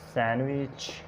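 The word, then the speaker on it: sandwich: और सैंडविच, सैंडविच नहीं, सैंडविच।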